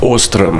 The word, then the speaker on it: Åström: muss ich das richtig aussprechen, what's the correct pronunciation? Ostrom.